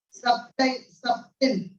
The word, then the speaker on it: subtle: Natural world is a subtle. The T is silent there.